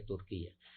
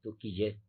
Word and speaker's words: Turquía: etcétera es el de Turquía que por cierto no sé por qué quien pronunciar como lo pronuncian á turquilla es Turquía Pero bueno Sí sí